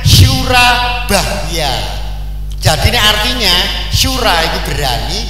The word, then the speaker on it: Surabaya: engak Nah itu beda Nah itu Jawa kuna juga itu bacanya Sura bahya jadi artinya Sura itu